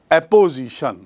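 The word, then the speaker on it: apposition: पहलू पर, संज्ञा और एपोजिशन। संज्ञा और एपोजिशन, स्पेलिंग देखिए, APPO, ऑपोजिशन नहीं है।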